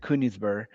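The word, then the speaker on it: Königsberg: This is a city still exists I believe in Germany uh Kinsburg which by the way they pronounce it Kunisburg.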